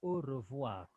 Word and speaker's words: au revoir: So we say au revoir. Can you say au revoir? Au revoir. Voir. R is pronounced au revoir. Au revoir.